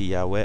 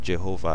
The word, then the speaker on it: Yahweh: I can never pronounce it right, but the Yahweh, when you say Yahweh, of course it's not Jehovah, because J is a new word, the Anglo-Saxon, Norman Saxon,